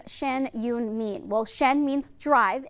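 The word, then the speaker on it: Shen Yun: a little bit but shen yoon is that the proper way to pronounce it yes beautiful and then talk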